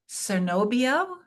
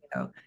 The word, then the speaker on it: Cernobbio: I don't speak Italian, but you were in Cernobbio. Is that how you pronounce Chernobyl. it? Chernobyl. Cernobbio.